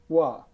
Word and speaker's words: Hoa: Hoa. How do we spell that?